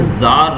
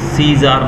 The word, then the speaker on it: Czar: समय रशिया के अंदर जार राजा रूल कर रहे थे। देखिए यहाँ पर स्पेलिंग दी गई है CZAR, इसको हम सीजार नहीं पढ़ते हैं, इसको जार पढ़ते हैं, सी साइलेंट रहता है।